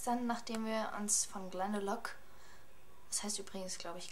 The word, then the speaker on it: Glendalough: man es ausspricht, aber unser Guide hat auch immer gesagt Glendalough, also ja, wird es wahrscheinlich Glendalough ausgesprochen. Dann sind wir noch ein